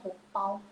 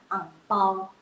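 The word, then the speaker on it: 红包: Jadi amplop merah jadinya hongpao. Biasa orang Hokkien bisa jadinya angpao Hokkien.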